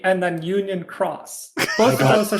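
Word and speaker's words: Union χ: could get a fucking Union Key sequel 358 Unions over Key or whatever the fuck he wants to call it. Unions over Key. Excuse you. It's Unchained Key and then Union Cross.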